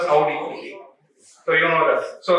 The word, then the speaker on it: Audi: You don't say Audi car. It is to be pronounced as Audi.